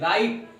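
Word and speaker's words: write: सो राइट means सही, लेकिन यहां पर WRIT, राइट, both are equal, दोनों बराबर हैं प्रोनाउंसिएशन में, लेकिन इस राइट का मतलब होता है लिखना।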